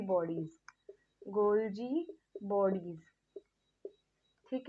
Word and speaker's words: Golgi: कई बच्चे से बोलते हैं माइटोचॉन्ड्रिया, तो वो गलत होगा, ये माइटोकॉन्ड्रिया जैसे ही हम प्रोनाउंस करेंगे, ठीक है। और क्या होता है इसके अंदर? गोल्जी बॉडीज, गोल्जी बॉडीज, ठीक है।